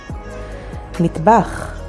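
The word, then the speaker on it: מטבח: Mitbach, which means kitchen, and spelled with mem, tet, bet, and chet.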